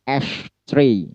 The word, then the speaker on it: ash tree: Pada penggalan ash atau syllable ash di sana ada petik. Ya, ada petik berarti harus ditekan atau di stress dengan nada tinggi. Lalu cara bacanya bagaimana? Berarti ash tree. Ash tree. Ash tree. Seperti itu. Ash-nya yang ditekan.